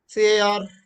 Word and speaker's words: car: CAR is not car. Last R is always unless or at the beginning or there are two R's, R is not pronounced in any English word most of the times.